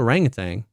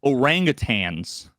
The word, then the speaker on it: orangutan: don't think it is I think it's a orangutang no no that's what people say but I think they say it wrong oh oh orangutans oh well they they